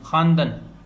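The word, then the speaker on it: خواندن: खा, वाव, अलिफ, नून, दाल, नून, खानदन, पढ़ना। अब चूंकि लिखने में वाव आती है लेकिन पढ़ने में नहीं आती, तो इसको अंग्रेजी में साइलेंट कहते हैं, और इसकी अलामत को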